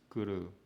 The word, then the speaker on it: kuru: And even, people who know Sanskrit pronounce it as kuri, and that's not the correct pronunciation. The correct pronunciation is ku. This is ka. And when you put the two syllables together, and that's ru, ru, ru. That's not di, that's ru, ru, ru. It looks like a ru, ru. So it becomes kuru.